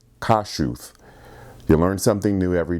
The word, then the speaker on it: Kossuth: kossuth street was pronounced kossuth but someone informed me that the name is Eastern European and it's actually pronounced kashuth you learn something new